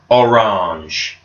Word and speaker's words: orange: And again, this word is very, very similar to the English word. In fact, it's spelt exactly the same, but we would say orange. Orange.